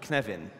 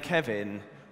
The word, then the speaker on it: Cynefin: Kevin like the name Kevin with the sneeze in the middle and I can answer that last question first you pronounce it like Kevin with the sneeze in the middle because it's Welsh word can have in the